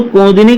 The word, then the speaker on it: कुमुदिनी: तो कुमुदिनी का सही उच्चारण दोस्तों आता है तो कुमुदिनी।